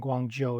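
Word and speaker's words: Guangzhou: Guangdong is the province and Guang Joe is the city. There we go. Yeah. Joe like the name J O Joe. And cities like Guang Joe J obviously home to China Southern.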